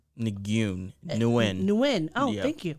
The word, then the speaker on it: Nguyen: So Flaws tweeted out, yes, her name is Ningyun, my grade 6 classmate. Nguyen. Wait, what did I say? Nguyen. Nguyen. Oh, Yep, thank you. The G is silent. Her name is Nguyen, my grade 6 classmate that sat in front of me.